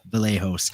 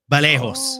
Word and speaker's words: Vallejos: to earn brownie points, when they say a Brazilian name like Kevin, they pronounce the V as a B. So it's Kevin Vallejos.